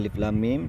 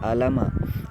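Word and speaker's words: الم: ketukan seperti itu jadi alif.lam.mim cara bacanya Jangan dibaca alamat itu bukan baris itu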